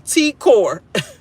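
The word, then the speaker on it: T'kor: shady or whatever but how is two syllable T core this hard to say t and a core like it's t Dash core how is that hard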